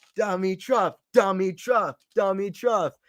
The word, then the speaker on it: Dimitrov: just got the wheels no say it like the Chad Anthony phonetically okay let me see let me see dummy truff dummy truff dummy truck dummy truff